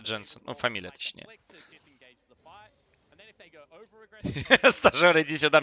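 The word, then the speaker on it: Jensen: нужно на своем стриме иногда троллил и говорил янсон хотя он сам знает что ну его имя правильно читается джинсов но familia точнее иди сюда мне т.п.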